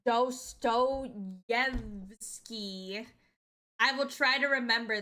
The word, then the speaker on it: Dostoyevsky: It's pronounced Dostoyevsky.